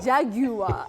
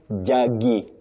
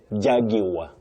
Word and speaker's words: Jaguar: This is actually a difficult pronunciation. This is J A G U A R Jaguar. Is that the I'm a Jaguar.